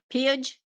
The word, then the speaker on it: Pidge: Pidge. Pidge? Yeah. Rhymes with bridge.